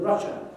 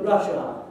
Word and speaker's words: Russia: And the prime example of that is the way people want to say the word Russia. And we pronounce the word Russia with a schwa here. But a lot of people learning English see the A at the end and they want to call it Russia.